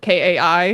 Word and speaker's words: Kai: arcade cuz like my name is spelled k AI um got it so so it's actually Kai but everyone calls me and so I like